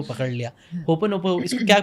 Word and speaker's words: Ho'oponopono: होपोनोपो, इसको क्या प्रोनाउंस क्या करते हैं? मैं हमेशा फनी लगता है थोड़ा सा वर्ड ये। मैं आपको बताना चाहूँगी हाँ, कि इसको होओपोनोपोनो बोलते हैं।